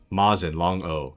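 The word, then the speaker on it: Mosin: Mazin, long O. And yes, it's Russian.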